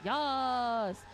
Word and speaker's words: Yas: For the record, we were told that Yas pronounces it Yas because in our notes it is Y and a multitude of A's followed by a multitude of S's, all in capitals with an exclamation point.